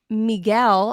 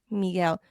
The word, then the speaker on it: Miguel: With Spanish stuff, we try to pronounce it the Spanish way. In English, you know, right? Miguel.